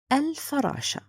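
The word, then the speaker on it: الفراشة: It means I'm going to write it and pronounce it. Again, listen to the pronunciation, al-farasha.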